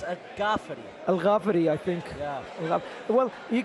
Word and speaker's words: El Ghaffari: the experience is definitely in the hands of a jaf or should I say AG GAF because he got a bit upset of me yesterday that I said a jaf it's actually pronounced a GAF Al gafi I think yeah well you can tell that